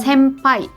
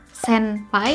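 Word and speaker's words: 先輩: m gitu ya jadi sampai Oh Ken finpay two senpai sesosok Jadi bukan senpai uh bukan juga seng paint tapi sampai nah teman-teman helm wes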